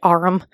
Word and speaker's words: arm: "Sure, it's an arm, your honor." He pronounced it arum.